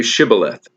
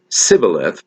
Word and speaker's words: Shibboleth: When he said, No, they said to him, Then say Shibboleth. And when he said Sibboleth, for he could not pronounce it right, then they seized him and slaughtered him at the fords of the Jordan.